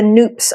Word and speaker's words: Nupp: And as I'm doing, just one quick note, Nupp is actually how you pronounce it. I was getting it wrong for a long time. We like to say Nupp like soup.